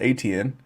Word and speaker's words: Etienne: So he got Etienne, I think it's actually pronounced Etienne, and I believe it's Creole, and Calvin Ridley Jr., and I got Michael Pittman Jr.